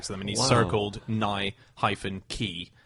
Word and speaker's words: Nike: All he did was just circle and send it back to them, and he circled Nye-key, as in a key opening a door. Yeah. So it's Nike.